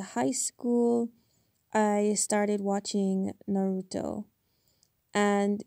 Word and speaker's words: Naruto: And they're like, "Because it's pronounced Naruto, not Naruto."